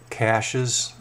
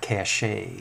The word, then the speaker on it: cache: different areas I built caches and the proper pronunciation I think is not cached we're not French is cache and that term is